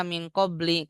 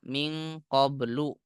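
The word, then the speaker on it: مِنْ قَبْلُ: yang la-anya terutama maka enggak mungkin dibaca Min qobli karena setelahnya bukan Isim tapi huruf sehingga dia terputus dari susunan idofah harus dibaca Min qoblu enggak boleh Min qobli Nah ya itu catatannya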